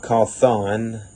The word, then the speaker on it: Cawthon: scott cawthon i mean a lot of people pronounce his last name scott call thon um others call him scott cawthon i mean i think that's a proper way to say it my sister called him